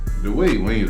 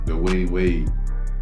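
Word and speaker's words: Dwyane Wade: Dwayne Wayne a loser, man. I just want to say that too. Dwayne Wayne? Dwayne Wade.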